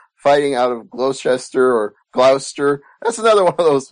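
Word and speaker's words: Gloucester: so it's probably Glouster just like it's Wooster but yes it is pronounced Glouster okay well Glouster it is then and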